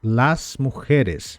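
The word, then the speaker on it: las mujeres: las mulheres las mulheres no espanhol sempre a letra A é bem aberta então nós falaríamos laseres laseres reparem que esse J tem um tom de laseres laseres E como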